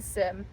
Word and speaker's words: Sime: Simeon, it is called Sim. It's spelled S-I-M-E. I just took Simeon and I took off 2 of the letters. But it's called Sim.